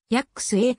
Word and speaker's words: ヤシュハ: に付けられるが野手派の紋章文字は実際にやっくすえと読むことがデイビッドスチュアートに